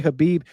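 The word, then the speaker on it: Khabib: Uh Tins Rico says, "Why Hhabib?"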